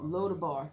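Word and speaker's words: Lo-debar: So, I guess if I'm pronouncing it right, that place called Lodabar, is it Lodibar? Don't ask me. No. Lodabar? Okay. Lodabar. Lodabar. Yes.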